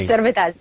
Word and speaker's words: Servettaz: I want to make sure I got the pronunciation right on that law, Elena, if you want to correct me. Servettaz.